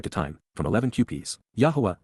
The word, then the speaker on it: Yahowah: time from 11 QPS yahwah yahwah the proper pronunciation of the name OFA God has directed